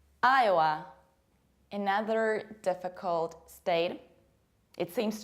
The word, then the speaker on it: Iowa: And it's not Iowa, Iowa, Iowa, it's Iowa, Iowa.